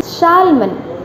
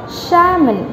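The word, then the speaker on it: salmon: Hello everyone, Shalman. What is there? Shalman. है ना? हम अक्सर ऐसे mistakes करते हैं in pronouncing the words.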